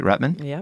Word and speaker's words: Rutman: And I'm excited to have with me Rutman. Did I say it right? Rutman? Yep, Rutman.